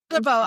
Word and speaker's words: Faribault: Faribault.